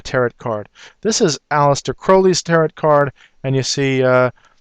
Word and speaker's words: Crowley: card this is aleister crowley's turret card and you see he wanted his name actually pronounced Crowley instead of Crowley because he wanted to rhyme with holy and I don't want